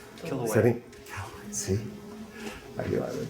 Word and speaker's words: Kilauea: And then here's another, some more basalt from, I'm going to mispronounce this, Mount Kiliao. Kilauea.